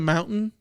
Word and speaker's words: mountains: Did you go up into the mountains? Yeah. And like, we still put a little bit of a T there, but yes, there are people that pronounce it mountains.